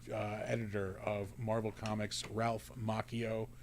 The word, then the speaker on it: Macchio: of Marvel Comics, Ralph Macchio, not the Karate Kid. That's going to be Sunday. I'm looking forward to both of those. You're like Jordan Schlansky, pronouncing it Macchio. It is pronounced Macchio.